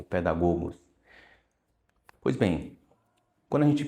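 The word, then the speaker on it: παιδαγωγός: Mas se pronuncia pedagogo ou pedagogos.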